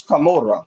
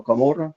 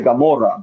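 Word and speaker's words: Camorra: It's camora. You know, kamura. Yeah. Of course. Yeah. Yeah. Yeah. People say Gamora, but it's a camora with the C, not with the G.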